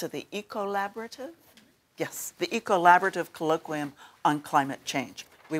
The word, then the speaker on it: ECOllaborative: But it's also about a consortium within this university that's been put together, which is do you pronounce it the ECOllaborative? Yes, the ECOllaborative Colloquium on Climate Change.